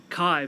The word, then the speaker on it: Kai: pronounce it kai mateo kai my first name is kai kai okay kai thank